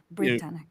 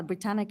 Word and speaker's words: Britannic: that uh you had mentioned and I made mispronouncing the was dive branic branic I apologize can you tell me a little bit more about that I never mind uh yeah Britannic is the sistership of Titanic uh it's third